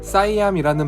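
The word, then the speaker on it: สยาม: 사용된 태국의 옛 이름입니다 태국어 발음으로는 시보다는 사암이라는 발음에 가깝습니다 시암은 어두운이라는 뜻인데요 태국인들의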